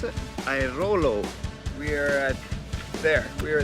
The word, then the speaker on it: Airolo: How do you pronounce it? Airolo.